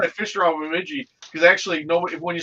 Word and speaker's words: Bemidji: Bemidji.